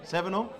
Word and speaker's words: Sevenum: Sevenum? Okay. Like 7 and UM.